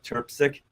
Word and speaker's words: Trpcic: So go on social media, put in Shauna Terpsic, and it's spelled Trpcic.